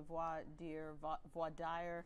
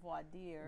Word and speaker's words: voir dire: Voir dire. Well, it's voir dire is the correct French pronunciation.